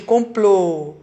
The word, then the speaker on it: complô: Agora, como é complô? É fechadinho, é o quê? Aqui, complô, né?